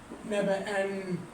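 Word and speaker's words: نبأً: وما بتزود الف التنوين كلمه نبا على سبيل المثال كلمه نبا نبا ازود نون في النطق بس ما بضيف الف التنوين خالص كلمه ندى او هدى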